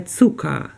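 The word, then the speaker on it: Zucker: і в українській мові але буквари в кінці не читається де цука наступне слово м'ясо да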